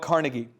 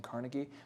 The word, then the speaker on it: Carnegie: quot from d d Carnegie carnegi is actually how you say it and Marshall was correct and I was wrong by saying Carnegie but it makes me feel